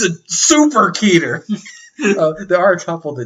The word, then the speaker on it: Keter: okay um and there's keter i don't know if that's how you say that it's k-e-t-e-r i think it's keter i read somewhere that it's pronounced like sweater but i think that's stupid